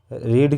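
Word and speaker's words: read: तो सब्जेक्ट क्या है इसमें, ही के साथ में क्या आएगा, विल हैव, रीड की third form रेड, spelling same रहेगी, उच्चारण रेड होता है, रीड रेड रेड।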